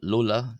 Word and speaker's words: ⲗⲟⲗⲁ: Uh then we have lola. Lola. This is like the l sound in the English word light.